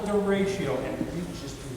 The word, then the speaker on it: derecho: And it's pronounced derecho. It's a Spanish word.